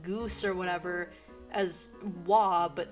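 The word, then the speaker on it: oie: goose or whatever as wah but spelled with every single letter that's not in that pronunciation it's spelled like o i e but is pronounced wah like what how can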